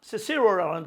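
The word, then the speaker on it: Cicero: 이 키케로가 시세로라는 발음하는데 키케로가 class A with B.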